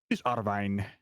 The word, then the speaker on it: Arwijn: Everyone calls him Arwen, but he's Arwijn.